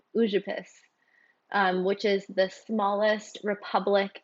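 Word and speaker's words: Užupis: I was calling it Uzupis, but it's actually Ujupis, which is the smallest republic in the world.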